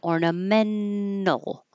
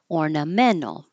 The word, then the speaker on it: ornamental: make it an in ornamental ornamental but it's not wrong to pronounce it with the T it's just pretty common to hear it without it's not functional it's